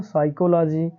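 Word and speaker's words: psychology: तो हम क्या करेंगे पी का उच्चारण नहीं करेंगे तो ये क्या हो जाएगा हमारा बच्चों पूरा साइकोलॉजी ये क्या हो जाएगा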